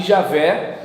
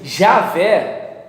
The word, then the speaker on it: Javé: alguns executivos acham que javé eu pelo menos entendo que assim jaffé pra mim é complicado porque não tem j no alfabeto hebraico antigo é entende ea o que